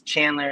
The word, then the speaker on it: Chxndler: His name is Chandler. It's spelled with an X, so it's CHXNDLER.